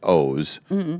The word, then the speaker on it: Oz: It's O's Pearlman, and it's Oz, but it's pronounced O's.